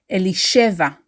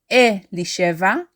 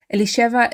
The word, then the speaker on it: Elisheva: like native Hebrew speakers we stress the second from last syllable elisheva it is not e Li cheva it is not Eli